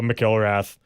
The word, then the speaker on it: McIlrath: That's how it's pronounced. McIlrath.